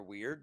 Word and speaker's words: wyrd: It's actually the original word, which is spelled kind of funky. That's why I don't always share it, but it's WYRD.